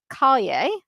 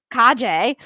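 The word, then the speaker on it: Calle: Then in post-production, Flash featured Sasha Kaje. Kajay. I forgot to put the pronunciation in there.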